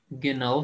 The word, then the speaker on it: gehen: अच्छा, ये इसमें एच साइलेंट है। जब एच से पहले वावल आ जाए ना, तो हम उसकी साउंड नहीं निकालते, इसको हम कहेंगे गेन।